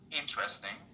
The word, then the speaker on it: interesting: But they always have this problem, like the word interesting. Most people in my country, and you know that, even maybe you do it too, is they say interesting. And it's okay, it's not interesting, it is interesting. The stress is on the first part.